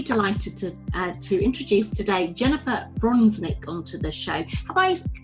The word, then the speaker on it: Bronsnick: Hello and welcome back to another episode of Victorious FM, where I'm really delighted to introduce today Jennifer Bronsnick onto the show. Have I pronounced your name correctly, first of all?